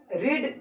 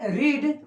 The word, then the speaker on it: read: Same ही होता है, लेकिन प्रोनाउंसिएशन अलग अलग होता है। पहला का होता है रीड, दूसरा का रेड और तीसरा का भी रीड ही होता है, यानी कि रीड का